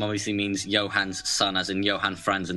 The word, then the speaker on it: Johansson: And our second Swedish center, Marcus Johansson, you would pronounce it Marcus Johansson. His last name obviously means Johan's son, as in Johan Franz in the Detroit player.